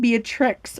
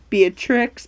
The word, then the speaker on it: Beatrix: you know heard beatrix i thought beatrix and be a triss were pronounced the same so i thought beatrice was actually pronounced to be a trix so yeah before i